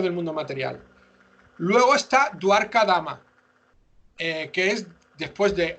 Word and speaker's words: Dwarka: Luego está Dwarka Dama, que es después de Ayodhya Dama, se